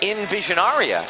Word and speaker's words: Envisionaria: Go to Envisionaria, actually, is the correct pronunciation.